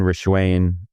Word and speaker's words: Rishwain: be joined by our longtime friend, Rishwain.